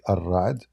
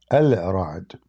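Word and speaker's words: الرعد: Like, I mean, when they say Ar-Ra'd, they are just saying it how they pronounce it, but it's not correct. Al-Ra'd. Anyway, Al-Ra'd is the thunder.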